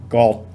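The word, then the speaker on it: กอด: g o t and it's pronounced with a low tone that's because this initial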